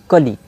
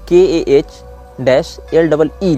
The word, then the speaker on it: Kali: अब इसको कली भी पढ़ते हैं और ऐसे इसमें तो IST का प्रयोग नहीं किया गया है, लेकिन इसको जो प्रोनाउंस यहाँ लिखा गया वहाँ KAH-LEE लिखा गया है, मतलब कली में तो ह्रस्व ही होता है।